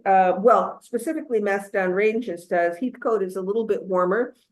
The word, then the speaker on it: Heathcote: We are in, is it pronounced Heathcote or Heathcote? Heathcote.